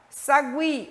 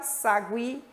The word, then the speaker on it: Sagui: Sagui, o U é pronunciado.